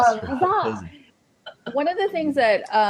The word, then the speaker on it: Huzza: One of the It could be things, really southern and it could be huzzy. Huzzy. Well, there's an A there. It's not Huzzy. Yeah. Huzzah.